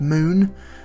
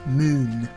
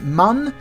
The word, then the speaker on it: Mun: flag on the moon it's spelled Mun but it's actually pronounced moon because even though it's